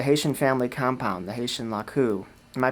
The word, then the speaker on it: laku: And in particular, we're going to talk a little bit about the Haitian family compound, the Haitian laku. Am I pronouncing that right, Joseph?